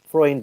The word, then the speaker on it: Freund: It's Freund, by the way. Freund. Okay, Freund has spoken to Graham Potter now, who is fully behind the appointment. Salzburg are aware of outreach for weeks, and Freund has their blessings.